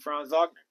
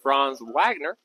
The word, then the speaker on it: Franz Wagner: Franz Wagner.